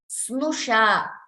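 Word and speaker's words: स्नुषा: Snusha, please note this, Snusha, the pronunciation Snu.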